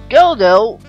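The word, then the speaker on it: Godot: But anyways, Goldo, not pronouncing the T there, actually is probably based on the Waiting for Goldo, which Anas will explain.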